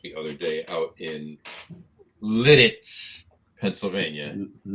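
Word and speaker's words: Lititz: I have a brand new bottle of Pennsylvania rye that I bought the other day out in Litz, Pennsylvania.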